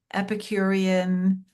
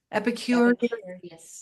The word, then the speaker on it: Epicurious Travelers: And people should definitely look at your Epicurean, am I saying it right? Epicurious Travelers.